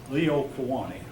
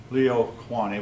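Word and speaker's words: Liliʻuokalani: a Y, but probably the L is pronounced like a Y. Yeah, thank you. Leo instead of Lilo. Liliuokalani.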